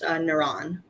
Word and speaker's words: Naren: It's pronounced Naran. Oh, Naran, sorry.